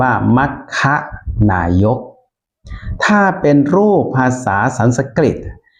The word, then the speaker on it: มัคนายก: ๆ อธิบาย นะ ครับ คำ ว่า มัคนายก เนี่ย ถ้า เป็น ภาษา บาลี จะ สะกด เป็น ม ม้า ไม่ หัน อากาศ ค ควาย ครับ อ่าน ว่า มัคค นายก ถ้า เป็น รูป ภาษา